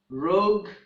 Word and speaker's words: rogue: And at the end, we have the words vogue, rogue, and tongue. In these words, the letter U is also silent.